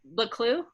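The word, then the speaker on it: Buccleuch: So, okay, so then Boucle, is that how you say his name again? Baclou, yeah.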